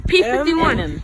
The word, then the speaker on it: Eminem: to pronounce his name Eminem Eminem Eminem like the candy oh oh I'm calling